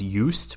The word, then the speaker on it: Just: a name his name i'm sure it's it's pronounced yust but it's his first name is j-u-s-t and